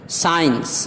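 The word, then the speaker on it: science: ہو رہا، سین منظر۔ سائنس اس میں بھی سی خاموش ہے، سائلنٹ ہے، سائنس۔ سینٹ اس میں بھی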